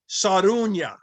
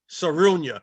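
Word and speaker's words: Sarraounia: Her name is pronounced Sarunya. Sarunya.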